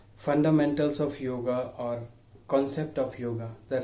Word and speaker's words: yoga: Actually, it is a wrong pronunciation. There is no such word exist yoga in any ancient book. Yoga is a English pronunciation of real word yog.